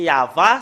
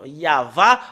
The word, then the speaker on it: Yahvah: nom du père yayava au moins l'an 2000 nous voyons très bien que c'est yava son nom c'est vraiment très très clair le nom yava en l'an moins000 et j'espère bien que